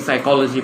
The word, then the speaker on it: psychology: The spelling is with a P, but the pronunciation is without the P.